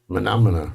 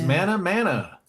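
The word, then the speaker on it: Mah Nà Mah Nà: this is Oh, I won't be able to pronounce this. He says it 84,000 times in the song. You know how it goes. Monomina.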